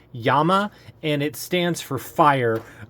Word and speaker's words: Llama: are more fam more famously referred to as llama and actually that's a misnomer it's actually per pronounced Yama and it stands for fire uh which would